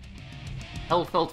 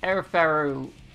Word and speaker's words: Elphelt: Yeah, they're saying Elphelt, which is wrong. It's Elphelt. Elphelt Valentine. It could be on purpose. It could be a joke based on the fact that one of the announcer voices in the previous game couldn't pronounce her name. But May was more obvious about it. In the previous game, she went like, Erferu, rather than going, just saying it wrong.